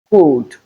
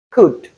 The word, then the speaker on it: could: The correct pronunciation of these words are, could, should, and would. That's because the letter L is silent and the O U spells the sound U.